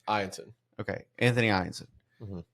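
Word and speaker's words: Eyanson: We've said it wrong all fucking year. Ianson.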